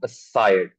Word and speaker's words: aside: That is, the stress is on the S sound, aside.